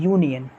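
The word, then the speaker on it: union: तो आप दोस्तों इसे आप प्रोनाउंस करते हो बोलते हो यूनियन, यू ऐसे बोलते हो ना दोस्तों, यूनियन। तो ध्यान से देखोगे तो या क्या है हमारा, या क्या है, कॉन्सोनेंट है।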